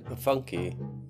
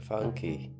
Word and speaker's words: Pfunke: 30 appointment with dr pafunke oh sorry the p is silent dr funky yeah sure i'll